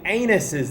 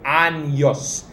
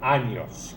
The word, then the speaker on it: años: of anyone ever so let's remember our tilde cuantos anostenas that goes for the pronunciation too make sure you say annyos annos again you're still saying anus so let's not say anus and let's say anos ears look forward to